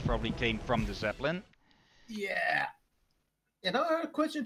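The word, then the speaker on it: ja: Yeah.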